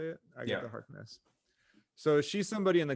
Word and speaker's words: Agatha Harkness: Yeah, Agatha Harkness.